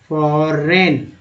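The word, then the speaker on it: foreign: This industry has been a major फॉरेन, GN में G silent है, EX देखिए आ गया ना, तो EX को X ही पढ़ते हैं ना कि EX।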